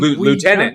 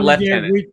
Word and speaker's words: lieutenant: on because the Americans the Americans pronounce liutenant in the French way and Lieutenant not not leftenant I don't even know where you get left Ted from because there's no [